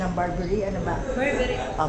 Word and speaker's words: Burberry: Am I say right sa pronunciation ng Burberry? Ano ba? Burberry. Oh, Burberry.